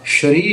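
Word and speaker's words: ਸ੍ਰੀ: शब्द संस्कृत भाषा द शरी है ससा मुक्ता हो जाएगा ससे वाली सिहारी पैर ररा ना बोली जाएगी तो बन जाएगा श्री एस एच आर ई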